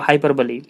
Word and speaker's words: hyperbole: कहते हैं हम लोग हाइपरबोली, HYPERBOLE। ये हाइपरबोल इसको नहीं पढ़ेंगे, इसको हाइपरबोली पढ़ेंगे। The correct pronunciation is हाइपरबोली।